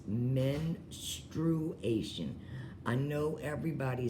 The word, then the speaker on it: menstruation: I am but anyway this is how you pronounce it it is men true Asian I know everybody says ministration or menstruation or whatever it is